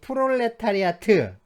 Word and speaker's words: 프롤레타리아트: 건 아니고요 뭐 우리는이 프롤레타리아트 보통 이제 프랑스처럼 발음을 해서요 프랑스처럼 발음을 해 가지고 어 프롤레타리아라고 그 맨 끝에는 발음하지 않기도 하는데요네 이제이 프롤레타리아가 뭐 어떻게